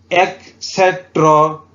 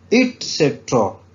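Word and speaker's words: et cetera: इसे आपने याद रखना है कि ये वर्ड एक्सेट्रा नहीं है, एटसेट्रा भी नहीं है। ठीक है, ये क्या वर्ड है? ये है इटसेट्रा।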